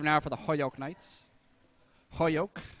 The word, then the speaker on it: Holyoke: Holyoke, as I've been told to pronounce it by Mr. Jeffrey himself.